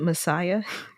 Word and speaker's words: MSIA: And then the initiations are MSIA, and they pronounce it Messiah.